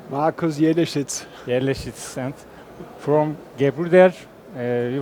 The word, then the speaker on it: Markus Jelleschitz: Please pronounce your name. Markus Jelleschitz.